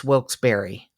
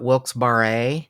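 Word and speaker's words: Wilkes-Barre: a r r e it's wils berry wils berry I would have thought wils baret bar wilberry okay wils Berry b a r r e I'm sorry what's what is wils berry Pennsylvania it's a city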